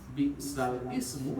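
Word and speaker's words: بِئْسَ الِاسْمُ: Ini kaidah secara ilmu tahsin aja ya, bacanya bi'salis ya, bi'salis fusuq ba'dal.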